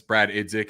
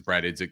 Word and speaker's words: Brad Idzik: The verbiage that Dave Canales and the staff are saying, as far as it's a production business, Brad Idzik, I hear that's how you pronounce this, Brad Idzik.